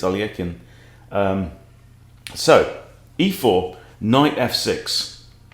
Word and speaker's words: Alekhine: defense alakine's defense um alekhine is the is the english pronunciation but in russian i think it's aliekin um so e4 knight